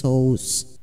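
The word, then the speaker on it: Ἰησοῦς: terkait dengan hal ini pengucapan nama yesue dalam bahasa aram dialek barat mengalami penyesuaian lidah dengan bahasa dan tata bahasa Yunani sehingga dilafalkan Yes yesous suku kata terakhir pada kata yesue berubah menjadi S karena dalam tata nama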